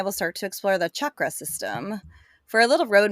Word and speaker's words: chakra: what do you say I say the people who say Shakra are wrong boom tell us how you really feel okay Linguistics let's hear it it is chakra with a hard C like you're saying Cha Cha Cha it's chakra because in Sanskrit that is how it is written it's a hard CH well I'm glad I